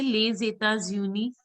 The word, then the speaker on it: Les États-Unis: Les États-Unis. Can you pronounce les?